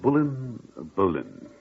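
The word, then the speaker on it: Boleyn: Oh, that is the right way to say her name, isn't it? Bullen.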